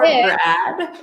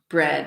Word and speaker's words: bread: Could I have some more Brad? Exactly. Could I have some more Brad Pitt, please? Okay, Remember, good. Massimo pronunciation, bread with an E. Bread, exactly, bread.